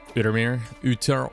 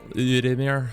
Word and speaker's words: Outremer: What are the requirements for Outremer? Outremer? Yeah. I don't think it's pronounced French-like.